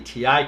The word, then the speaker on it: Ti: the 1080 and 1080 Ti came out with the benchmarks sorry Nvidia Texas Instruments came first and the wrapper you know solidified the pronunciation so I'm gonna say ti not not ty okay well usually the